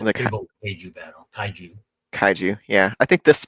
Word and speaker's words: kaiju: to the Keiju scene. There's a The big old Keiju battle. kaiju, yeah. I think this pronunciation I've got on you.